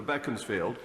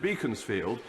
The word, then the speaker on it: Beaconsfield: honourable friend and nourishment the member for Bekins field or as Disraeli pronounced it Beaconsfield when they decide that